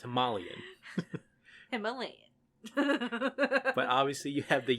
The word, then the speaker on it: Himalayan: they made a very big deal that it's pronounced himalayan but obviously you have the yeti there and